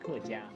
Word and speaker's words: 客家: Now, the interesting thing about the Hakkas is Hakka, written in Chinese characters in Mandarin, is pronounced kejia, which means guest people.